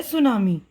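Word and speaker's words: tsunami: रहा है वह है सुनामी सुनामी लज टी साइलेंट है यह जापानी जबान का लफ्ज है तो सुनामी का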